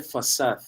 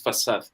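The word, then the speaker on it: façade: La primera, bueno, yo la escribí en chat, se pronuncia fasad. Esa letra, que es la segunda, Ajá. se llama cedilla. Se usa en el portugués y se usa también en el francés.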